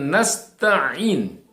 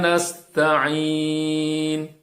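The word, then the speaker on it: نستعين: ya kita perhatikan bahwa di dalam huruf Ain disitu tidak ada tasydid tapi kita sering mendengar orang membacanya dengan nasta'in orang membaca Iya karena budu wa iyyaka nasta'in ini salah yang benar iyyaka na'budu wa iyyaka nasta'in ya karena dia tadi adalah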